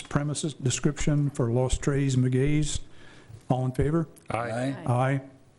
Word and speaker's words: Los Tres Magueyes: pronounce it, Magays? Pardon me? Is that how you pronounce it, Magays? Los Tres Magueyes. Magays, okay, thank you.